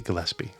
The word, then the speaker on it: Gillespie: say it right Dizzy Gillespie um pie is how I would say it Gillies pie oh